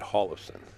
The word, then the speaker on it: Hjorleifson: the two ball olufsen everybody's telling me how to pronounce his name and then hole left's and well I had him come over to the booth and he said Holliston I'm gonna say it the way he told me to say it you